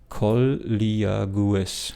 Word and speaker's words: colleagues: Colleagues.